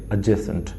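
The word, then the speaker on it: adjacent: इसकी प्रोनाउंसिएशन देखो भाई, ए डी जे जब भी लगता है मोस्ट केसेस में डी साइलेंट होता है।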